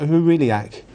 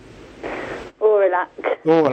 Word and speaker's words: Aurelac: I hope I pronounce this right. Huriliac. Aurelac, thank you.